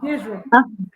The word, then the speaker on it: Israel: Israel. Okay, that's how I was pronouncing it.